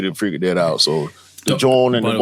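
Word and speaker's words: jawn: For those of y'all don't know, John is what they say in Philly. It's like um it's an alternate dialect pronunciation of joint.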